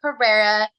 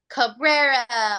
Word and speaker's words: Carrera: So, you guys find me on all platforms, all social media at Carrera, and it's spelled Carrera, like the car. Because a lot of times people hear like Cabrera or Correa, so I'm like it's Carrera like the car.